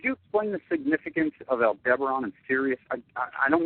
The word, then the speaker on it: Aldebaran: uh i you know there's different pronunciations of that i just call it aldebaran um they uh different